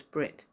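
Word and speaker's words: ברית: Do you know that the Hebrew for covenant is pronounced as Brit?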